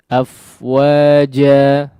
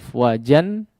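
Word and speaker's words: أفواجا: Demikian juga ya, dalam contoh fi dinillahi afwaja afwaja ya tidak dibaca tanwin ya afwajan ya tapi dimadkan ya.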